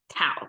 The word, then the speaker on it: 道: Dao is the contemporary Chinese simplified version of pronouncing it, but I guess Tao can make sense as well.